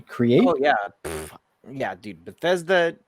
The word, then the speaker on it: Bethesda: while they they purchased uh how do you pronounce this but but bethetta bruschetta bethesda bethesda okay sorry because i see that and